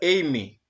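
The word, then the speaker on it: εἰμί: Se pronuncia Amy y es un verbo primario y efectivo, literalmente.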